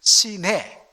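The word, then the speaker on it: Sinai: 오후에 심을 적 있습니다 여러분 사이나이 이렇게 영어 반음이 됩니다마는 이게 뭐냐면 바로 신의 사를 가리키는 표현입니다 시네 이렇게 돼 있는데 이것을 영어로 발음하니 사나이가 되는 것입니다 그러므로 사이나이 하피는 여러분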